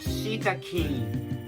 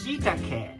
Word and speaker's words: shiitake: And this is not shiitake. This is shiitake.